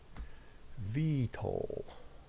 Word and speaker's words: VTOL: How do you pronounce VTOL? VTOL. VTOL. Pronounce the T as if you're saying tall.